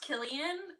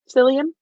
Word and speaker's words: Cillian: Yeah, it's pronounced Killian. I'm glad I'm educating the world. Um, I'm glad I'm not the only one who thought it was, what did I no, say? Cillian?